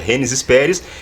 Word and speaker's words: Gênesis Pérez: nossos estúdios hoje a Gênesis Pérez. É isso, né? A pronúncia está certa. Gênesis Pérez. Eu vou chamar ela de Gênesis Pérez aqui, vou dar uma brasileirada, uma portuguesada no teu nome, não tem problema, né?